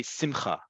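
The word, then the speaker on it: שמחה: in Central Europe too, Ashkenazi Hebrew, it's usually on the second to last syllable, which is why in Yiddish and the Hebrew spoken by many people outside of Israel who come from an Ashkenazi background, they will say simcha.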